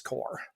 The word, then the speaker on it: corps: that's that's correct that's that's silent s that's right that makes no sense as an English why does says corpse I know I it does it's the French it's that's where we get it from yeah core comes I